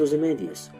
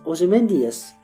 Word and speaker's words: Ozymandias: So when he says Ozymandias, he fits just 10 syllables on his line. If he said it the way I say it, then he would have an extra syllable, and it would not fit the pattern.